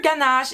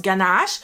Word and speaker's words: ganache: americans or the british i hear pronounced ganache they don't say it as casually as we do french people like ganache they said ganache which is kind of